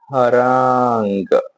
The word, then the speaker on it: harangue: सो टुडेेस word is हरंग। Okay एक बार spelling देख लेते हैं पहले।